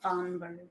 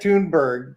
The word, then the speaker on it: Thunberg: join the here here's Greta thunberg tber not thunberg it's it's t I know but it's pronounced oh it's tberg Greta tunberg yeah so happy to meet pop Francis yeah